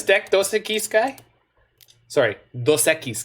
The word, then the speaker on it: Dos Equis: those sticky sky sorry dos Equis guy that is the current credit correct pronunciation even though it really tilts me I believe that beer should be pronounced Dos Equis because you should separate the dose and the a case because then people can understand that it's two words because I didn't for